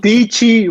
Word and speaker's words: Dietschy: DIETSCHY rhymes with Peachy.